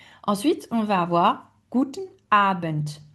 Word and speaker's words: Abend: Ensuite, on va avoir guten Abent. Guten Abent, vous entendez à la fin, on va dire un on entend le T.